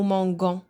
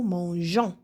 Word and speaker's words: mangeons: باش ما نطقوهاش غون. نو مونغون باش نطقوها نو مونجون.